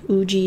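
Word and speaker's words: Ugee: So, if you guys are curious what tablet I'm using a Uji 2150. Uji spelled like U-G-E-E.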